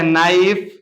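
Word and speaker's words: knife: अगर के रहेगा तो के जो है हमेशा साइलेंट होगा जैसे यहां दिया है नो इसको दिया है नाइफ यहां देखो के को नहीं पढ़ा जा रहा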